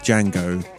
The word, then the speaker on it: Django: He's in the canon alongside Django, The D is silent.